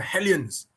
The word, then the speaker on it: Hellions: wazza will say but wazza is a french so he cannot pronounce the h so he'll say aliens aliens yeah i'm playing for